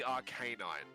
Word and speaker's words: Arcanine: say arcanine it's like it's clearly arcanine because it's a dog canine yeah like i do not understand how anybody read it as arcanine and just did not